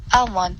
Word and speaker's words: almond: it to me seven so as almond test popular force are tricky because the l is silent and would say seven